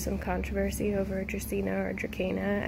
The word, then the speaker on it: Dracaena: Dracaena. I know there's some controversy over Dracaena or Dracaena. I actually found out that I think it might be pronounced like a K.